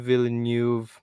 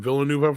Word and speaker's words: Villeneuve: a pretty good movie it's a denis villeneuve movie uh yeah that's how you say his name who directed the new dune movie which i really enjoyed but uh that's how i say it all the time villanueva however the new wavy